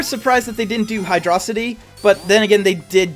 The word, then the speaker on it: Hydrocity: Hydrocity. I call it Hydrocity. Hydrocity. Hydro City.